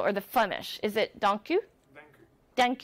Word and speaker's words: dank u: Is it dank u?